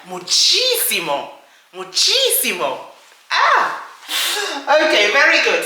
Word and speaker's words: muchísimo: VERY MUCH, MUCHíSIMO. muchi simo. Remember accent on the first I, muchísimo, muchísimo.